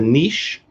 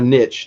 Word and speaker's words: niche: see if that was a niche or a niche, depending on how you ought to pronounce the word, for a Disney pin show.